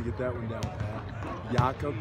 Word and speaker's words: Jakob: Jakob instead of Jacob, you know, it was pretty challenging, but no, it's great.